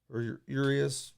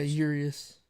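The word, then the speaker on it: Urías: Musgrove's on the mound for the Padres, and you have Urias on the mound for Urias, I think it's pronounced. Yeah, Urias.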